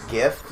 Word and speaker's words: GIF: jet i prefer graphics i prefer gif because it's a soft g sound yeah because yeah because